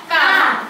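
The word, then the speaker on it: قاف: আচ্ছা তোমাদের মধ্যে একজন কেউ ভুল করতেছো, কফ বলতেছো। কফ হলো জিহ্বার গোড়া, জিহ্বার গোড়া থেকে কফ উচ্চারণ হবে। আর এখানে কাফ হলো জিহ্বার গোড়া থেকে একটু আগে বাড়ায়া একটু সামনের দিকে বাড়ায়া তারপরে কাফ উচ্চারণ করো।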